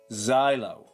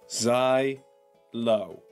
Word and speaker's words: xylo: the correct pronunciation for this word is Xylo Xylo Zai low Xylo is not a